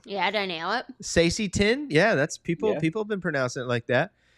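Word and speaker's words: Saesee Tiin: Sacy Tin, yeah, that's people. Yeah. People have been pronouncing it like that.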